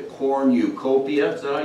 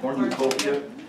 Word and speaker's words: cornucopia: mother always put out the corn eucopia you pronounce it cornucopia which is like a